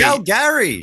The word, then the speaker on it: Calgary: Wait, has Calgary got Gary in it? Yes, it's Calgary. Calgary. Let's be honest. They're saying How it have I wrong. never noticed that before? We're going Yeah. to Calgary.